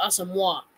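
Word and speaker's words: Asamoah: least rotate with Brian asamoa or it's pronounced awesome walk and overall I haven't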